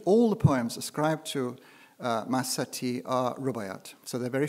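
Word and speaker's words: Mahsati: of persia of course medieval woman poet is masati sometimes pronounced mahasti but i think people usually um it's i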